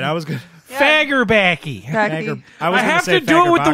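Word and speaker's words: Fagerbakke: It's Bill Fagerbacky. I think you actually said it right. I was good. Fagerbacky.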